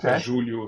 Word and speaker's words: Julio: there and actually generally people get this wrong but my name is actually Julio J obviously in North America most people pronounce it Julio because of you know they're like Spanish Mexican but my my dad is actually um Portuguese so it's it's Julio so a Julio Julio pronunciation not Julio that's good you know